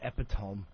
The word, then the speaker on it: epitome: You said epitome. You can't get past that. Well, look how it's spelt. It's spelt epitome.